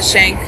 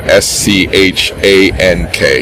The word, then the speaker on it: Schank: And your name is, so it's and then last name Schank. Yeah, Schank, the C is silent.